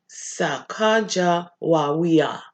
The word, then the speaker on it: Sacagawea: fancy name Sokka Joey you say like this Sacagawea Sacagawea so she even showed us how to pronouncing see even she didn't put it right